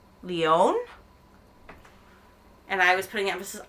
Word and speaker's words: Lyon: My friend here told me I was pronouncing it wrong in English because I think I was saying Lyon, but I'm trying to say it more French, like Lyon.